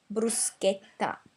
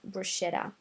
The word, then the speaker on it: bruschetta: So the correct pronunciation of this word is actually bruschetta, not bruschetta.